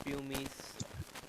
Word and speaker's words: pumice: सर प्यूमिक stone Pumic बनता stone.